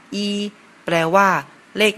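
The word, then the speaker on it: 一: เลข 1 เลข 1 ใน ภาษา จีน อ่าน ว่า อี เรา มา ลอง เขียน ตาม กัน ดู นะ ครับ เลข 1 จะ เขียน จาก ซ้าย ไป ขวา ครับ ลอง เขียน ตาม กัน ดู อีก รอบ นะ ครับ เริ่ม จาก ซ้าย ไป ขวา ครับ ภาษา จีน อ่าน ว่า e แปล ว่า เลข 1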